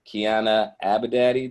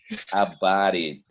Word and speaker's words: Abadi: Next, we have Abadati. Did I pronounce that right? Abadi. Abadi.